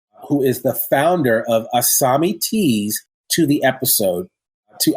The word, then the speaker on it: ASAMI: Yeah, and I guess I should say it's spelled ASAMI, but it sounds like there's an H there with the S, so it's like ASAMI Teas.